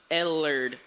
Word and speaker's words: Ellard: Oh, you're welcome, but it's pronounced Ellard. Ellard.